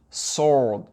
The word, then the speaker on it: sword: On ne dit pas sword, sword. Sword, W est ignoré.